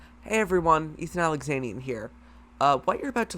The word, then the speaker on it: Ethan Alexanian: I'm your host, Ethan Alexanian.